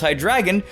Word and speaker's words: Hydreigon: and its name is misleading because it's actually pronounced hi dragon so you've already posted your comments on me